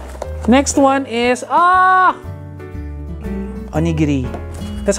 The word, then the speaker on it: onigiri: strawberry strawberry Rock next one is ah onigiri that's how you pronounce it onigiri onigiri hell yeah the comics finish it